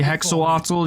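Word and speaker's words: Hexoatl: Hey, Mazdamundi, Hexawattl.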